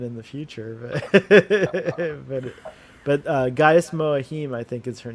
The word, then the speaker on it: Mohiam: But Gaius Moahim, I think is her name. Mohiam, I think is how you say it.